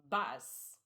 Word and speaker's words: bass: The second one is bus. We caught a big bus fish. It rhymes with class gas.